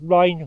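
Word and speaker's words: rhyne: Little silted up drain, little drainage channel, rhine or reen, depending on how you pronounce it. Varies different parts of the country, I believe.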